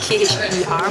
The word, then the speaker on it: kheer: I think it's called kheer, K-H-E-E-R, but he pronounce it as kheer. So I think it's kheer.